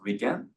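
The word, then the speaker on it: 理研: So this is in Japanese pronounced as RIKEN.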